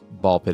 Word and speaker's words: Ball x Pit: not spy cross family it's not spy x family it's spy family or hunter hunter and I think ball pit is another example of the x is silent and in those titles